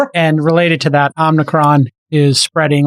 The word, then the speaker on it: Omicron: And related to that Omicron is spreading like crazy. Uh New York City had Omicron. Omicron. Omicron. There is no N. Omicron. Omicron.